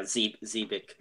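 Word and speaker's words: Xebec: yeah, Zebik. Yeah, It's pronounced Zebek. Apparently, yeah.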